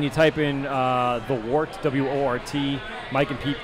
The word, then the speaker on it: Wort: All right, so if you go on YouTube and you type in the Wort, W-O-R-T, Mike and Pete, pronounce Wort, spelled Wort.